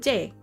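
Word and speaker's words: Jai: J is my middle name. J A I. And you pronounce it J.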